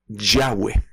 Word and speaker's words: Yahweh: Algunos pronuncian esto como Yahvé. En algunas otras denominaciones se le dice Yahweh, en otras pues se le dice Jehová o también una muy conocida Jehová.